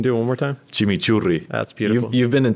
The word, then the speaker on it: chimichurri: that, and I know I'm not pronouncing the R's right. You got it. You got it. Chimichurri. Can you do it one more time? Chimichurri.